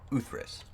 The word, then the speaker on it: Uthris: But the correct way to pronounce my name is Uthris.